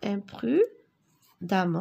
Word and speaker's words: imprudemment: L'automobiliste conduit imprudemment. Attention, imprudemment. Alors, regardez, E-M, 2 R, E-N-T. Imprudemment.